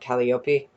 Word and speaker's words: Calliope: a human king his mother was the muse calliope at calliope i think it's pronounced so he had a bit of a